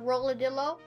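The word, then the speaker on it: Rollodillo: galaxy rock and roll Lo Dilla that's the boss yep and that's a very weird name I did I pronounce that correctly uh roller Dillo roll it yeah oh instead of armadillo yeah oh that that's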